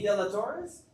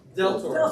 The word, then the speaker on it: Del Toro: De La Torres? De La Toro. Del Toro. Thank you. I put too many syllables on it.